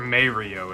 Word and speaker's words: Mario: up in the bunker Mario is the Italian way of saying it or or may Rio is it's Mario right yeah I've never understood